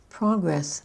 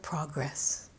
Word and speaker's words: progress: For two-syllable words that are both nouns and verbs or adjectives and verbs, we tend to accent the first syllable of the noun and the adjective, but the second syllable of the verb.